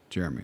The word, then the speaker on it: Jerremy: First name is spelled with 2 R's. My dad's name was Jerry. So Jerry and me. Jeremy. That's how that happened.